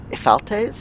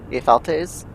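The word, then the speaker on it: Ephialtes: Ephaltes, I think is how that's pronounced. Ephaltes.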